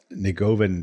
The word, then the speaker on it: Negovan: But it's Negovan. That's the way he's pronounced in the United States where he lives.